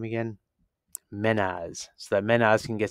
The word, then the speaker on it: Mehnaz: Menaz.